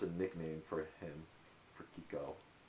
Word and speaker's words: Kiko: It's spelled K I K O pronounced Kiko.